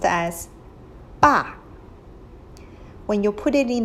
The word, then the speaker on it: 爸: So the whole character is pronounced as 爸.